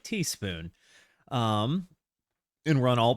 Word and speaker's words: TS Spoon: Recall TS Spoon or Teaspoon. Oh, pronounced like Teaspoon.